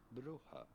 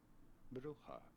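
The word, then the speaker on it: Brugge: in Dutch or Flemish this name would be pronounced as bruja bruja pretty straightforward bruja here are more videos on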